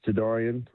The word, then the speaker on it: Jadarian: Yes, it's Jadarian. Um, my closest ones to me call me.